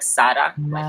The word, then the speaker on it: Sara: and i'm so glad that you brought up sarah ramirez oh yeah yeah which by the way she likes to um pronounce her name sara so so it's like